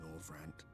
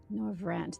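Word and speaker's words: Norvrandt: The flood was poised to swallow Norand. Nor Vant. They do pronounce that R in there. I was missing that earlier.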